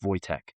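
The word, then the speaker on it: Wojtek: Now, if you look it up, it's Wo J Te, but it's pronounced Voytech.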